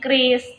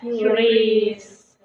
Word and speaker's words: QRIS: Sebenarnya ya teman-teman, cara membacanya itu bukan QRIS tapi KRIS. Jadi kamu tadi Yunda juga masih salah. Yang benar adalah KRIS.